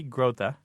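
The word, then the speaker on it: Grothe: modern there's a book by Marty groa that's how you say it g r o t h e called I never metaphor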